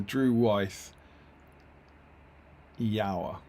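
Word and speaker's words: Drúedain: With rhymes with Drew Wythe. Drew Wythe. Okay, so the Drew Wythe Yower.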